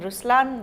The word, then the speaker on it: Ruslaan: so even in raslan when you say raslan also means the line it's the attitude of but the right pronunciation is Ruslan okay there is so